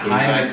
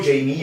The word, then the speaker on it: Jaime: At Jaime Camil. All of mine are at Jaime Camil. I want to say Jamie Camil because todo el mundo la caga. Cuando digo Jamie, en vez de spell it Jaime, they spell